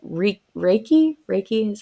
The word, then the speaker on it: Reiki: point so how you said like re Reiki Reiki is how you pronounce it right right yes and energy yeah